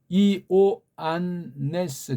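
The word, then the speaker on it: Ἰωάννης: 그래서 이오안네스 그렇게 읽어야 돼요.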